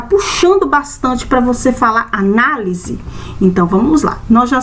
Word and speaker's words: análise: O som dela é um som aberto, é uma sílaba forte.